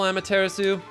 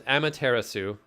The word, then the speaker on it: Amaterasu: man this is gain heavy great and powerful Amaterasu could I be so bold as to request